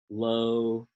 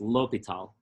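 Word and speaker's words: L'Hôpital: L'Hopital's rule says, and again, L'Hopital is pronounced L'Hopital. I think the lo gets an accent, like stress. L'Hopital.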